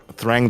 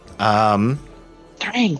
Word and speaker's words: Thrang: confront what looks like Thrang the Conqueror. Krang, damn it, I got his name wrong. I called him Krang.